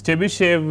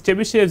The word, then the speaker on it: Chebyshev: This Chebyshev is spelt in very different ways.